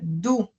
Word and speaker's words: do: Solo que se pronuncia do, como si hubiera una U.